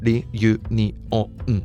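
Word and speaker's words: リユニオン: In Japanese, it's pronounced ri-u-ni-o-n. It's one of those English words that lends itself to a buttery smooth pronunciation in Japanese.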